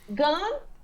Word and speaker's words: gun: dá, mas pro ouvido do brasileiro realmente vai soar os dois exatamente igual.